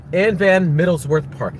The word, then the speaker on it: Van Middlesworth: Anne Van Middlesworth Park. That's how you say it.